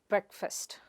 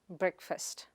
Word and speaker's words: breakfast: The next word is breakfast. It is not break-fast, but brehk-fuhst.